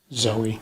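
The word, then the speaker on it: Xoey: uh north carolina to zoe hawk yeah okay i did not know that spelled with an x okay x-o-e-y and she ended up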